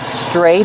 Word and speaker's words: stray: We call them stray dogs or stray cats. Stray. We see the tr making the chch sound like chicken plus the r together.